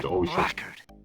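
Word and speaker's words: blackguard: You don't really pronounce the K when you call someone a blackard. You just kind of roll right into the G.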